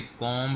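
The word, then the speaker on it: comb: इसी तरीके से कॉम हम पढ़ते हैं, तो ये कॉम है लफ्ज़, आप इसका बी साइलेंट कर दीजिए, क्योंकि एम बी घटा आ रहा है।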